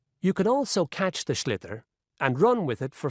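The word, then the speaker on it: sliotar: this ball called a schlitter that's a s-l-i-o-t-a-r so it's not spelled the way it's pronounced you hit it into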